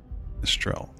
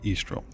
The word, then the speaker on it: Aestrelle: What I did do here was create Aestrelle, or Aestrelle, or however you want to pronounce it, because the AE in certain languages, or even English, would be represent a weaker E, so Aestrelle.